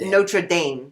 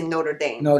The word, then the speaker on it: Notre Dame: it because people here people here would say not notame notra Dame and we say Notre Dame we say it right see now and you